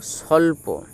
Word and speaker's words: স্বল্প: প এই জন্তুসয় ব এই বটি হচ্ছে পরাধীন অর্থাৎ এর উচ্চারণ হবে না এটি নিয়ে পরে আলোচনা করব তাহলে এই জন্তুসয় ব এর উচ্চারণটাও স এর মতোই হবে তাহলে সল আর প স্বল্প কারণ জন্তু সয় ব